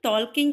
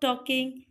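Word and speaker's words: talking: कुछ बच्चे इसको टॉकिंग कहते हैं, ये एल होता है बच्चों, एल साइलेंट होता है। आप बोलोगे स्टॉप टॉकिंग।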